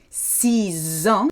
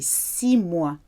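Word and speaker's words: six: So if you're saying 6 years, 6 ans, you can hear them merged together. But if your next word, your noun, starts with a consonant, you don't hear the ending.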